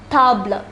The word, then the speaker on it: table: same as stable in english but it is pronounced tabla it is in the masculine singular form therefore